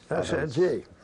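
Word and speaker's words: Saint-Dié: the line at a place I guess is pronounced Sandy. Sandy.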